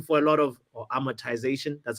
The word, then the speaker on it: amortization: I'm I'm monetization for a lot of or amortization that's how you pronounce it amotization for a lot of like the the the